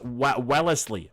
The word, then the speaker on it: Wellesley: Wesley is pronounced Wellesley.